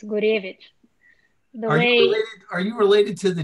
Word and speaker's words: Gurevich: well do you wanna if you wanna say it the correct russian way it's gurevich are you related to